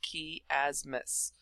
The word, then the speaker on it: chiasmus: gonna cover is chiasmus I know it has a CH but it still pronounced key asmath now again another one